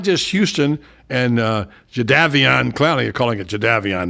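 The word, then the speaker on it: Jadeveon: go where it's not just Houston and uh jaavan clown you're calling it jaavan now that's what they pronounces it it's not just Donnie Manzel but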